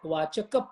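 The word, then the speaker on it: वाचक: Vachaka meaning, see, when you say Tasya Vachaka Pranavaha, Ka, when you pronounce it with little deeper pronunciation, it is called Mahaprana. Mahaprana means you emphasize on that word.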